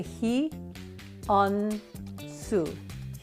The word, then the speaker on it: Hyounsoo: do you say my name start with a he on Su hu hu Le a name that is hard